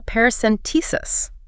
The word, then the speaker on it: paracentesis: Perhaps a paracentesis. Pronounced parouscentesis. Five syllables, stress on the T.